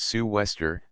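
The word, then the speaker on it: sou'wester: the lead and line southwester pronounced Sue Wester a waterproof hat with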